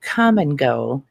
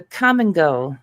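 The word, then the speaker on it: Kum & Go: And uh they have a gas station there called Come and Go and it's spelled K U. It's spelled K U M.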